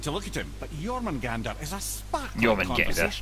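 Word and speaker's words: Jörmungandr: You wouldn't know it to look at him, but Jormungandr is a sparkling Jormungandr. conversationalist. That's how the proper pronunciation goes.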